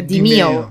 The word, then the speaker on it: Demeo: Que era un tuit de una de las desarrolladoras o alguien diciendo cómo se pronuncia realmente Demeo. Era que era Dimeo.